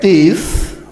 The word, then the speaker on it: teeth: or nails don't forget teeth ended in tea and h in here it is like that teeth T not ti t like three te oke continue te or